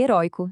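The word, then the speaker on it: heroico: Só em palavras paroxítonas, ideia e heróico são os exemplos perfeitos disso. A gente continua falando com som aberto, mas o acento no papel sumiu. E olha, a lista de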